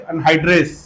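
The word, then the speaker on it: anhydrase: एक एंजाइम होती है जिसका नाम है carbonic अनाइलेज़ अनाइ अनाइलेज़ carbonic अनइ sorry carbonic अनहाइड्रेस अनहाइड्रेस carbonic अनहाइड्रेस एस ये एक एंजाइम है।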